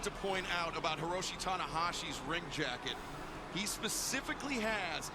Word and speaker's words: Tanahashi: Tanahashi, records 1-0.